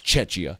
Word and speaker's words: Czechia: It's CHIA, but it's pronounced with a K. Czechia.